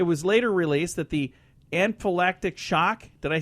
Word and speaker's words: anaphylactic: Anaphylactic.